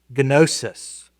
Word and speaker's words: gnosis: And I know in English we often will leave the G silent on if it's the beginning of a GN or something like that, but we pronounce it uh gnosis.